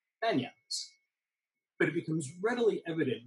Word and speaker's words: banyan: he's wearing as a banyan or perhaps more properly pronounced banyan the accent being on the second syllable um this is a